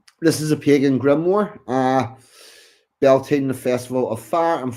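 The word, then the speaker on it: Beltane: Its name beltine pronounced beline belena comes from the old Irish beltine often translated as bright fire.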